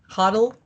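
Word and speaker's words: HODL: before the L as hold h o DL hoddle uh here it's like Biddle ble Gill learn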